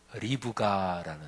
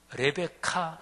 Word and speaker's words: 리브가: 오늘 그 첫 번째 인물로 리브가라는 사람이에요. 보통 영어 발음으로 레베카 이런 이름 있죠. 레베카, 이게 이제 성경 나오는 리브가 이제 이 이름인데요.